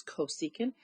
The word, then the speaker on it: cosecant: so I know that CSC pronounced as cosecant is going to be